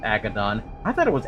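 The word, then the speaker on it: Agaddon: It is really actually pronounced Agodon. I thought it was Abdon.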